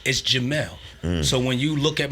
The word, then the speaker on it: Jamel: I'm taking everything back to its original form, because my name is Jamel, in Arabic pronounced Jamil.